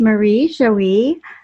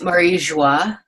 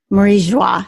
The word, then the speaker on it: Marie-Joie: Her name is Marie Joie. Did I say that right? It's Marie Joie. Marie Joie. So see, I already said it wrong.